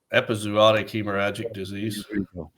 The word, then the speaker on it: epizootic hemorrhagic disease: it OIC hemorrhaging disease is that how you pronounce it epizootic hemorrhagic disease leave it to him um and it what